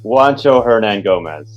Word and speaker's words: Juancho Hernangomez: now that um skip you know i can't pronounce this man's name herman say it for me juancho hernan gomez the real the person behind voters essentially there